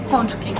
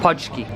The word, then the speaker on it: pączki: I'll ask how she pronounces it, but everything in Polish is hard. How do you call it? Podski. Podski.